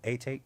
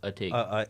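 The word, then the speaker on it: Atake: Eternal A-Take? Nah. That's the album that's supposed to come out. It's Eternal. Yeah, it's a take. It's just a take. A take. Okay. Yeah, it's pronounced a take.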